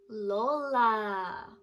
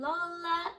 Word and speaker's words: Lola: you that in tagalog we call our grandmas lola what letter does lola start with that's right starts with the letter l l makes a sound that's right i love her and she loves me and lola is her name-o l-o-l-a-l-o-l-a so lola is